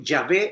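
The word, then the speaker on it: Yahweh: biblia católica se lee ya ve porque ya ve es la pronunciación hebrea del nombre jehová no nosotros no somos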